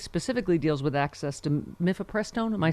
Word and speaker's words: mifepristone: I can never pronounce this. Mifepristone.